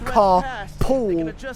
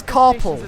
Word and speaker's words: carpal: it, think it's pronounced carpool tunnel, but no, it's yeah. No, because that's how it sounds. It sounds like you're saying carpooling, but it's carpal because that's what the joint is called, the carpal joint.